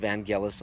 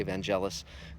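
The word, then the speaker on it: Vangelis: and it is from what I hear it's pronounced vanelis although most people say evangelous including myself and uh but again it just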